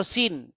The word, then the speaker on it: Sin: Sin ya atau Suen bahasa Akadia atau bahasa Enzu ya dibaca dipronounce sebagai Suen atau Sin.